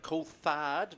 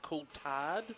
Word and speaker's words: Coulthard: Carter Coulthard, not Coulthard. Coulthard. Always got taught by Fabian and his dad Ricky back in New Zealand. They are Coulthards, even though Fabian is